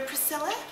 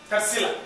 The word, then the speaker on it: Tarsila: You're Priscilla? Tarsila. Priscilla. Tarsila. T-A-R-S. Tarsila. Tarsila.